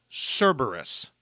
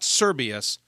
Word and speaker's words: Cerberus: you I was wrong the hell Hound's name is Cerberus not serbus Cerberus and for those of